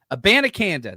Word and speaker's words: Abanikanda: Is that am I pronouncing Abanikanda? Abanikanda.